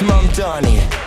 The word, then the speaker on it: Mamdani: Mamdani.